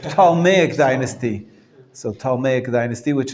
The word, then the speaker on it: Ptolemaic: known as ptolemaic right the p is silent palmeic dynasty so talmay dynasty